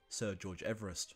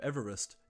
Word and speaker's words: Everest: Ironically, the modern pronunciation of Everest deviates from Sir George's own pronunciation of his surname, which was Everest.